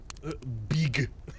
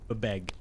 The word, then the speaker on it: BBEG: They swear you're supposed to pronounce it bebeg or bebeg. Beg. Bebeg, I I think. beg you to stop because that's terrible. That's a terrible way to say it.